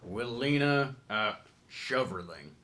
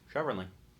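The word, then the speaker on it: Willina Schoverling: She's Willina Shoverling. Is that right? Can you spell it for me?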